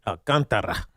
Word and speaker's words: Alcantara: Most importantly, because you said Alcantara the right way. Speaking of most people say it incorrectly. They don't roll the R.